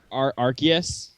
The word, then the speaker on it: Arceus: it's Arceus is how it's pronounced.